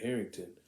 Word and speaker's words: Harington: The Black Knight by and who's gonna be played by Kit Harington.